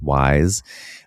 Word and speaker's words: YSE: But then on top of that, I'm I started using this thing that Molly Sims has a line of beauty called YSE pronounced wise.